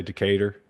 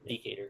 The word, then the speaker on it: Decatur: How do you say it? I would say Decatur. Yeah, Decatur.